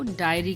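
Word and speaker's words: diary: करके पढ़ा जाता है जबकि डी आई ए आर वाई को डायरी करके पढ़ा जाता है डी ए आई आर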